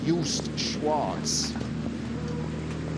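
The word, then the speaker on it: Joost Schwarz: scala from the netherlands and i'm going to pronounce his name correctly yust schwartz i'm glad you have to do the pronunciation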